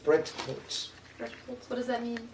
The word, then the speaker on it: Bretholz: Bretholz. It never got changed? Bretholz, you pronounce it in 2 syllables. We were wondering how to pronounce Not it. Bretholz stumbling over the TH, but Bretholz.